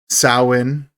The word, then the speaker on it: Samhain: Samhain is how you pronounce it, Shane.